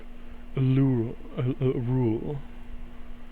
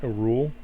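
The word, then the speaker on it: Auril: that the temple the cultists used to worship a rule a-u-r-i-l I'm thinking I'm saying it right a rule um thistle okay am I saying that right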